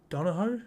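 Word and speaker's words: Donoghoe: the he's been brilliant this year Kurt Don Dono is how you say his name mark Nichols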